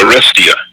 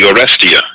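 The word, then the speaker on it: Oresteia: The name of the trilogy is called the Orestia. The Orestia. It's spelled O-R-E-S-T-E-I-A.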